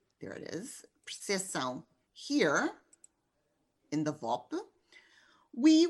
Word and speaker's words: percepção: It's pronounced in Brazilian Portuguese, but not in European Portuguese. So the new rule of the spelling reform in these cases is to maintain this P in the national varieties in which it's pronounced and to eliminate it in the varieties in which it's not pronounced.